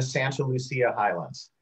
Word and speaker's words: Santa Lucia Highlands: at talbot vineyards in the santa lucia highlands that's how that's how we pronounce it here um i'm a monterey